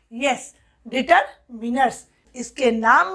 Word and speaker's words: determiners: डिटरमिनर्स, बहुत जन इसको डिटरमाइनर्स अपना एक्सेंट को अलग अलग शो करने के लिए पढ़ते हैं, लेकिन वो बिल्कुल इनकरेक्ट है। The correct pronunciation is डिटरमिनर्स।